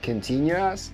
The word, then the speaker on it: continuous: Ten pierwszy archiwalny, można powiedzieć, że historyczny wręcz, o parszywej szesnastce, gdzie źle wymawiam słowo continuous. Tak jak w czasach continuous. A nie, bo continuous.